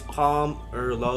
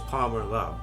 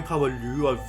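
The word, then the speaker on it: Pomerleau: Also, if you're confused about my last name, it's Palm or Low. Like the P-O-M-E-R is Palmer, and then the L-E-A-U is Low. So you guys are confused about my last name. That's how you say it. It's Palmer Low.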